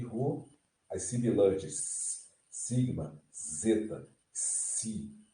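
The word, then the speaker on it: ζῆτα: Então, o zeta dá a impressão que é DS, zeta, zeta, zeta, zeta.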